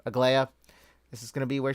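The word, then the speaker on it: Aglaea: Is that how you pronounce? Yeah, Aglaya. That's how you pronounce her name. Aglaya.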